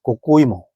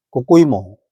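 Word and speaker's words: こうこういも: 근데 이거를 그 일본어, 그 당시 대마도에서 불렀던 발음이 고꼬이모였다고 합니다. 고꼬이모.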